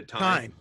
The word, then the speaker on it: TYME: at least starting yeah is it time or tyme the time it's spelled t-y-m-e right so how did